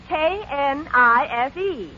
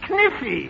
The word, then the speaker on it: knife: K-N-I-F-E. K-N-I-F-E? That's Kniffy. No, the word is knife. K is the silent letter. K is always silent in front of N.